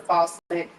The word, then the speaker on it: Fauset: Shout out to Crystal Bird Fawcett. Her last name is spelled Fauset.